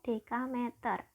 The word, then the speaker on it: dekameter: sama dengan berapa dekameter bedakan kalau DM itu desimeter kalau Damai itu bacanya dekameter ya Nah ini kan ketiga-tiganya